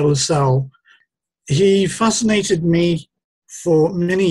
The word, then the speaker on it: Lassell: pronunciation of his surname the connect pronunciation is lasso um but i prefer lasalle he fascinated me for